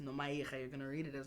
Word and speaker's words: Nomayirha: I think also with when you read it, and if you're not Xhosa, you're not gonna read it as Nomayirha. You're gonna read it as Nomayirha.